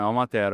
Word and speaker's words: Almatero: Beto aí, que é da vinícola Almatero. Pronunciei bonitinho? Isso aí, não, é Almatero, é.